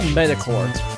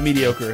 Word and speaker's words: mediocre: It's just so metacore. Is metacore the right way to say that, or is it mediocre? Are there two different ways to say that? Mediocre.